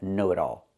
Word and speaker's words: know-it-all: The T changes to a fast D because it's between vowels. Not know-it-all, but know-it-all.